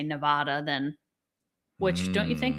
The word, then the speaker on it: Nevada: It's not like, you know, you have an accent of some sort that change It's Nevada. The state is Nevada. The same way would you hear New Jersey pronounced differently somewhere?